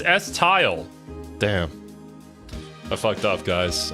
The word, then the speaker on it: Estelle: Estelle? No, it's S-Tile.